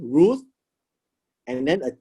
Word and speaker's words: Ruth: it spells this way r u th and so it's pronounced as r u root and then a t but the t actually ends softly with an h so it's pronounced as root root not the english